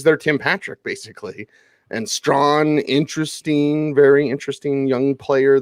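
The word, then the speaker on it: Strachan: here for the colts mike strawn and that's the way you pronounce it strong strong yeah strong strong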